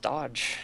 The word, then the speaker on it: Doge: the crappy bits okay it would be pronounced dodge can't you english bro we ain't french wait you're not the